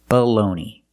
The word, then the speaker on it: baloney: Today we're talking about these two words, and they're pronounced exactly the same. Baloney. The first word is baloney, and the second word is baloney. The first vowel is the short sound, like cup and up, below.